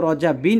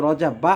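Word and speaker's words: رجبَ: আসছে কোথায় রজাবা আসছে তো এটা গয়রে মুনসারিফ এটা পরিবর্তন হয় না এটা রজাবা রজব মানে রজাবাই থাকে তো আপনি গয়রে মুনসারেফ জবরের হালতে সবসময় জবর হয় এজন্য ফি রজাবা উচ্চারণের সময় আপনি রজাবা বলবেন রজাবিন বলবেন না যদি এখানে রজাবিন আছে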